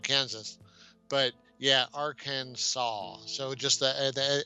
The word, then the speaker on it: Arkansas: a second lady arkansas arkansas so the s is silent at the end um i'm not sure